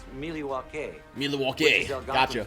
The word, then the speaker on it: Milwaukee: Actually, it's pronounced Milwaukee, which Milwaukee.